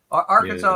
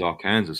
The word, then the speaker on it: Arkansas: not as far east as England yeah yeah Arkansas is right about the middle no come on